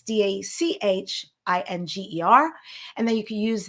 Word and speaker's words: Dachinger: And the last name's Austrian, so it's Dachinger.